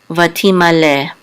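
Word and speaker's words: וַתִּמָּלֵא: A Tav with a Hidik says Ti, Vati, and this is a Mem with a Kamatz, which says Ma, Vati Ma, and a Lamed with a Tzere, and this Aleph is silent, is Le, Vati Ma Le, or Vati Ma Le, and this means became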